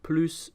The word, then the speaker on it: plus: else we will use Palouse do blah blah blah notice this time that I am pronouncing the s as an S so for example here